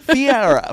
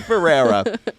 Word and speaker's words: Ferreira: Kid, Fiera.